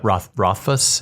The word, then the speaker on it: Rothfuss: Yes, and Patrick Rothfuss. Yeah. How do you say it? Rothfuss, I think.